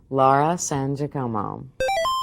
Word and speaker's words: Laura San Giacomo: And right off the bat, I want you to say your name and pronounce it correctly for us. Laura San Giacomo.